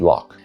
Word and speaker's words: loch: It only survives in borrowed words like Bach or loch, which most English speakers just pronounce as bock and lock.